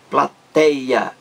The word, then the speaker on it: plateia: Os ônibus contêm uma verdadeira plateia. Plateia. Três sílabas. A última sílaba é a plateia.